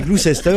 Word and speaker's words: Gloucester: Et maintenant, Christine va te dire comment on prononce. Et alors Leicester. C'est Leicester et Gloucester.